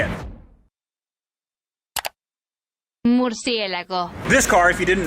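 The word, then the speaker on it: Murciélago: Mercielago.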